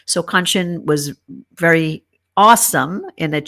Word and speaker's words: Kanchan: I now say my name is pronounced Kanchan, rhymes with luncheon, in case you're wanting to know.